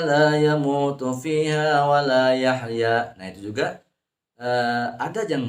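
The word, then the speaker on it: يحيى: Yahya, ha itu dibaca wastul halqi, di tengah tenggorokan.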